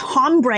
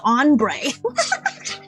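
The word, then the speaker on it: hombre: Also, you guys don't pronounce the H. It's like not ombre, it's ombre.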